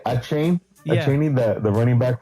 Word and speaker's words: Achane: We have Devon how do you say Achane? Yeah. Achane, the running back from Miami. Yeah, you think it would be Achane, but it's Achan.